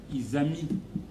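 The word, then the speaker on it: Izami: Isami isami bozali Eric c'est pas qui I comme innocent Z comme zair ami comme un ami Isamiali Eric euh mon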